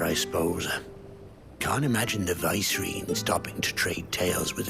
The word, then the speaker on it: Vicereine: Can't imagine the Vicereine stopping to trade tales with a bearer. Can you? Vicereine, okay, that's how you pronounce that word.